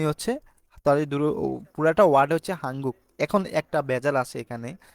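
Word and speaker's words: 한국: হচ্ছে এই যে আপনারা নিয়ন বাচ্চিমের পরে যদি গিয়ক দেখেন তার মানে এই দুইটা মিলায় তখন ইয়ং হয়ে যায় মানে দুইটা না ইয়ং শুধু নিয়নের জায়গায় ইয়ং বসবে তার মানে হাঙ্গুক লেখা আছে আমাদেরকে উচ্চারণ করতে হবে হাঙ্গুক হাঙ্গুক তার হাঙ্গুক মানে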